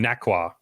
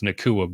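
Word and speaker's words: Nacua: If this was last year in the preseason, we would have been calling him Nakwa or something like that. Like we wouldn't all have known how to pronounce Nakua before he even got here.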